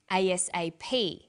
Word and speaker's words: ASAP: read-only memory notice that each letter in the abbreviation is pronounced separately but the last letter is pronounced more strongly because it carries the primary stress so we say us a ASAP ABC and TV listen